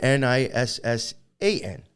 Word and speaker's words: Nisan: It says, I'm going to pronounce it Nisan, because that is, it says Nisan, Nisan, or Nissan.